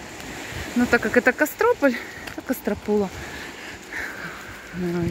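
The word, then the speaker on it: Кастрополь: Кто-то зовет Костропула, кто-то Костропула. Ну, ударение по-разному. Но так как это Кострополь, то Костропула.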